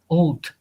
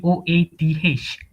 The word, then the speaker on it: oath: pronounce commission of old oath i just pronoun conventional of old oat it should be oath with the h sounds old yes and you